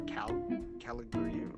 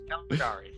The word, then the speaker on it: Caligari: Caligari.